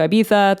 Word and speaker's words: Ibiza: I went to Ibiza. That's how they say it in England. And if you say Ibiza, they're like, it's Ibiza. And when you go to Ibiza, they say, it's Ibiza. So, you can never win.